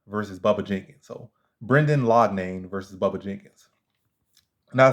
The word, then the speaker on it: Loughnane: Brenda let me say his name right Brendan lodnain versus Bubba Jenkins so Brendan laudnain versus Bubba Jenkins now I see someone right